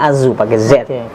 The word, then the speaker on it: Asu: Jawa jadi anjing Nah itu Asu Tapi bacanya Azu ada dua dokter di